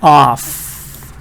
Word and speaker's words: off: However, this one is the real F sound. So this one is exactly off pronunciation.